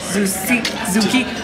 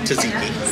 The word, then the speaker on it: tzatziki: Zuki. No, tzatziki. There you go. That's the sauce. I can never pronounce the word right.